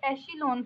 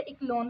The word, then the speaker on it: echelon: कुछ लोग इसे एशिलोन फॉर्म में पढ़ते हैं और कुछ लोग इसे इकलोन फॉर्म में पढ़ते हैं, तो आप जैसे भी पढ़ना चाहें, प्रोनाउंस करना चाहें, आपकी मर्जी है।